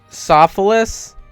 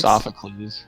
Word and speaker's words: Sophocles: Um, Sophilus. Did I get it right? Sophocles. Sophocles. Damn it. I said Sophus. No. Sophocles.